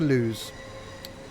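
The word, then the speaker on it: Lewes: it's bad very bad welcome to lose Bob Lewis how you pronouncing it the boat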